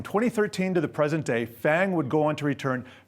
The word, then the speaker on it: FAANG: mix and that's how Fang was born with a long a Apple has no doubt